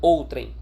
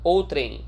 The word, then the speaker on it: outrem: Diga-se de passagem, a pronúncia desse termo é outrem. Não vão por aí me dizer outrem, por favor, tá? Não passem essa vergonha. Afinal de contas, é um problema, é um desvio de prosódia que não coaduna com o aluno CPC.